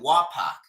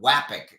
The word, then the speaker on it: wok: Notice I'm starting to pronounce it right, too. Wak, not Wapek as I used to pronounce it.